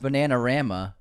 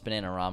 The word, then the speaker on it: Bananarama: You pronounced Bananarama incorrectly. Unsubscribed. Bananarama. Bananara. I think there's another R in there that you missed. No, it's Bananarama.